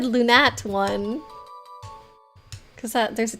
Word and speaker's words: Lunatone: I'm gonna call it lunat one there oh there perfect beautiful oh yeah no lunar Stone maybe but not lunarone yeah lunat one that's what we're called you have to say it like that now that's the proper